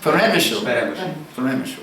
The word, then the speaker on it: Przemyśl: How do you pronounce Przemyśl? You say the L at the end? You say Przemyśl? Peremyśl, okay.